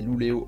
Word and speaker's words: Luleå: la Laponie Suédoise c'est à loulea prononcé louleo en suédois que la joyeuse troupe